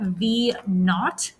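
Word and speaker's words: v₀: and this one so the way that you say that that's zero there you pronounce that v naught okay so this guy right here you pronounce it v and it's not like n-a-u-g-h-t which is a fancy word for nothing okay and this one when you'd say h naught okay so that's how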